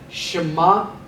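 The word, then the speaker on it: שמע: We give the ayin a slight G pronunciation. So we say Shema, he heard.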